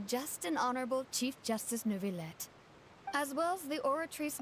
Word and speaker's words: Neuvillette: Ain't no way his name is actually pronounced Neuvillette. All this time in my head, it's been Novaye. Novaye. Oui, Novaye. Neuvillette?